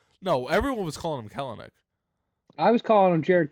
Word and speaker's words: Kelenic: It's Kelnick. It's Kelnick. We said the name wrong the whole time. Baseball reference says Kelnick. Yeah, I knew that it was never Kalanick.